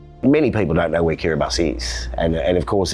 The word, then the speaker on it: Kiribati: First of all, many people don't know where Kiribati is, and of course it's spelt Kiribati, but the TI is actually an S.